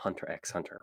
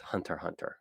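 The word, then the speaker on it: Hunter × Hunter: how it's like yeah japanese people do not pronounce the cross so it's when like usually in the western series people say hunter x hunter right but in japan it's it's just hunter hunter or in really any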